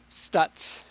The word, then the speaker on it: Stuetz: Is it Stuetz? How do I pronounce that? Stutz. Stutz. It's like it looks.